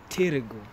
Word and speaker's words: Târgu: targo or tergo moresh they write it ta but they pronounce it as tirigo so you can see